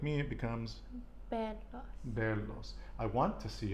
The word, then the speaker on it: verlo: I always forget to pronounce the B, like the V, like a B. Quiero verlo.